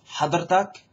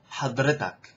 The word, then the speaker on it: حضرتك: In Egyptian, they pronounce it a little bit differently. So, this is like Syrian or Levantine, hadirtak. In Egyptian is hadirtak. So hear the difference, hadirtak, hadritak. It's just the emphasis is a little different.